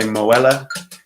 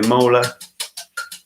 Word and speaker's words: Muller: No one in England or in the US pronounces Muller correctly, although he was an American guy, German surname, but I'm pretty sure he'd probably started using an American pronunciation as well.